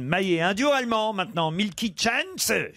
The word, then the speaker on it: Milky Chance: Un duo allemand maintenant, Milky Chance. Voilà, je le prononce à l'allemand. Oui. Ouais, non. Bon, on peut lire en anglais, Milky Chance.